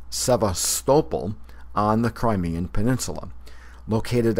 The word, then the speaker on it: Sevastopol: present-day Crimea is located 3 miles east of Sevastopol, a major port on the Black Sea.